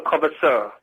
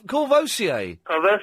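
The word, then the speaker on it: Courvoisier: Two, two cartons of kverasur. What? Oh, corvosier.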